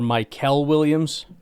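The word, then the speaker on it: Mykel: Um, between Michael Williams or Michaelels, the edge rusher out of Georgia, it is Michaelel, wide receiver out of Ohio State.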